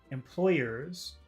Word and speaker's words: employers: hard sound employees what about number two employers employers it's still long because you have e years the Y you have that y there